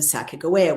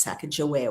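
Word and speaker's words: Sacagawea: I beg your pardon how embarrassing it the Saka Goa which used to be pronounced Saka Joa when I was growing up.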